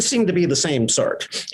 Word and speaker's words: Sartre: But this didn't seem to be the same Sartre. And I anglicized French names, so Sartre will be my pronunciation.